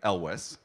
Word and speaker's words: Elwes: My poor brother, Kerry, Elwes, which is how it's pronounced, has had to suffer